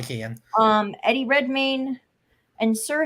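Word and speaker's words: Keoghan: how you say it no because it's Irish which means you leave out some syllables I think it's Kian yeah probably Kian um Eddie Redmayne and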